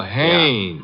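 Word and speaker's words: Haines: Oh, Hannes. Yeah. Do you know him? Well, there's a fellow named Hines used to fish. No, no, no, not Hines.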